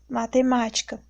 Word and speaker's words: matemática: Exemplo de uma palavra proparoxítona: matemática. A sílaba mais forte é o ma, é a antepenúltima.